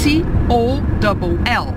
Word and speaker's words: toll: T-O-L-L.